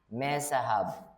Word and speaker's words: Mezahab: And his wife's name was Mehetabel, the daughter of Matred, the daughter of Mezahab. Why am I adding some syllables there? Mezahab.